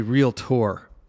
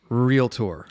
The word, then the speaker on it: realtor: be pretty funny real i should say real tour realtor a realtor real tour so if you're an older realtor in fact me mispronouncing that if that that gets